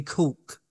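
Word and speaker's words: caulk: never heard this term uh use use a cork gun mm-hmm that's spelled c-a-u-l-k I'm just gonna quickly look what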